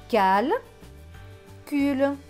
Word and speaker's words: calcul: C avec AL. AL c'est al. Le C va se prononcer que parce qu'il y a le A juste après. Donc que et al. Cal. C avec UL. UL c'est ul. Le C va se prononcer que parce qu'il y a le U juste après. Donc cul. Donc ce mot va se lire cal. Cul. Calcul. Donc la phrase c'est j'achève mon calcul.